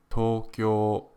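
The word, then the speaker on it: 東京: the city uses is not one but two long vowel sounds in Japanese Tokyo is actually pronounced Tokyo did you also know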